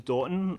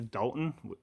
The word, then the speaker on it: Daughton: bad names pretty badly if I didn't know my name was Dorton I would probably pronounce a Dalton and most people do but anyway we are